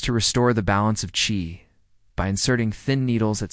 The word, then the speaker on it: qi: Qi, pronounced qi, is a vital energy that flows through the body along specific pathways known as meridians.